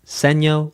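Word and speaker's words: segno: The sign ds means dal seno which means repeat back to the sign seeno like sign.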